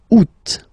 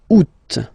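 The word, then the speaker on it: août: And then here two options because uh well two options are acceptable in French. The first one you don't pronounce the final t the U. Second one you pronounce it oot.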